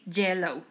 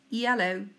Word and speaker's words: yellow: of this letter yellow I don't say jello no it's yellow now we're going to